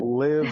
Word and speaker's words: Liv: Now, handling rejections and getting to where you are now, do you find that Liv today, and I'm saying it right, it's Liv, not Live, right?